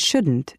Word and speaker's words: shouldn't: Notice how the T in can't and shouldn't is not strongly pronounced.